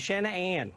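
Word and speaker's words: Shan'ann: Well, here's what I'll say, because ever since I knew her, it was always Shanann, like, and I'd break it up into 2 syllables and 2 separate things, you know.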